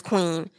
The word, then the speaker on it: Kwn: It has features from Lucky Daye, Queen, spelled KWN. I hope I'm pronouncing her name right, but I'm feeling like it's Queen.